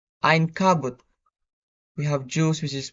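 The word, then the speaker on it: عنكبوت: For the example, for the initial Ain, we have spider, which is pronounced Ein Kabut.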